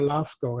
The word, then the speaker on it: Lascaux: still staying in france and we're looking for lasko and lasco is spelled l a s c a u x